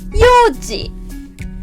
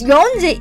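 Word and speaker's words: 四時: the first one is four o'clock we pronounce it yoji yoji no yon yoji because yonji is quite difficult to pronounce that's why we preferred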